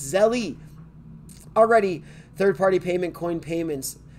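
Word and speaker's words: Zelle: There's an E at the end. Zell? It's not Zell. What is it called? Zell? No, it's Zelly.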